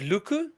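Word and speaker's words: Lucu: But um, Maxime, is it Luku? Is that how Yeah, you that's pronounce right.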